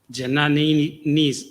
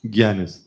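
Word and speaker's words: jnani: It says Janani's. I can't pronounce that. You can tell me how to pronounce that. Janani's desire liberation. Gyanis. Hmm? Gyanis. Gyani. That's what, right.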